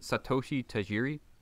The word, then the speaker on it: Satoshi Tajiri: Is it Satoshi Tajiri?